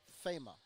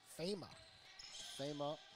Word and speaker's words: Fema: Peter, the pronunciation, she's from Senegal in Africa. It's Fema. Fema out of Senegal.